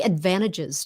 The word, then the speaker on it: advantages: The reason why the T is not like that is sometimes you hear a little bit of it and sometimes you don't. In English conversation, very often we swallow that T up.